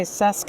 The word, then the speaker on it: CESQ: business developer okay sesque is how you pronounce it why don't you introduce it and what your ambitions are as an organization Yeah.